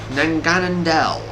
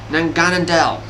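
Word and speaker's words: Naganadel: Now, Poiple's evolved form is called, I'm going to try to pronounce this correctly, Nanganandel. So yeah, that's basically Poiple's evolved form is Nanganandel. Nanganandel.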